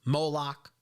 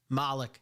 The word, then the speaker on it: Moloch: in the name of moloch malik however you're going to pronounce it molak so let's see how